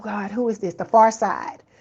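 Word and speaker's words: Pharcyde: The Far Side. It's a rap group. It's a old rap group from the 90s called The Far Side. P H A R C Y D E. That's how it's spelled.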